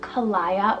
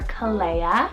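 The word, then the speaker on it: Callaia: Now this one can be, and I've heard it pronounced a couple different ways depending on maybe where you are in the world, Kalaya or Kalea.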